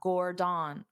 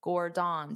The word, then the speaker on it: Gordon: So you have to pronounce the gore louder and longer and then the den very fast.